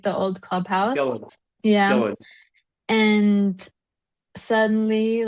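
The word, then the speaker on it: Gullane: And we went to like, I don't know, I probably won't pronounce this correctly, but we went to Guln, like the old clubhouse. Gillen, Yeah.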